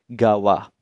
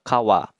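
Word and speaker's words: 川: Tolong diingat ya minasang, kalau kanji sungai berdiri sendiri dibacanya Kawa. Tapi kalau ada namanya digunakan bersama nama sungai tersebut akan dibaca Gawa, Musi Gawa, dan sebagainya.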